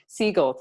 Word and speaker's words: Segel: the Muppets movie, one with Jason's, is it Segel? I don't even know how to say his last name. His name said out loud? I forget how he says it. Jason Segel. Segel, thank you.